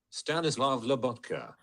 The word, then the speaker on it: Stanislav Lobotka: Seslev, let me pronounce his name. Stanislav Lobotka.